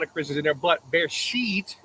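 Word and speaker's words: בראשית: A lot of Christians in there, but bear sheet, the proper way of saying it in Hebrew, is also in the beginning.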